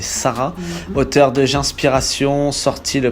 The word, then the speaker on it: Sahara: On est avec Sarah, donc bien que ça s'écrive Sahara, il faut prononcer Sarah, auteur de J'inspiration, sorti